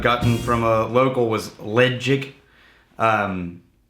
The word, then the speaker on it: Ledaig: find a lot of arguments over how to pronounce that correctly um the best advice I've gotten from a local was legic um like l d chig g but make